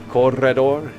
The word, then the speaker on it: Corredor: Or Corredor. We keep rolling the R. Corredor.